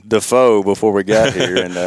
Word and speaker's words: Defoe: it's easy I mean a lot of people look at it and they they want to say defo but uh but yeah it's actually the correct way is defo is to pronounce it and it might have